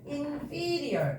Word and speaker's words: inferior: superior, inferior 이렇게 되거든요.